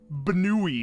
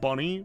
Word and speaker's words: Banui: It's pronounced Banui Bun Bun. Oh, it's Banui, not Bunny.